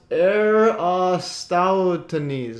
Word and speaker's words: Eratosthenes: It's pronounced Eratosthenes. All right, Eratosthenes.